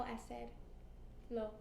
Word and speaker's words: hacer: And do you pronounce the H? No. Never, right?